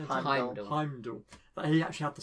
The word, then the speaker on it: Heimdall: Heimdall.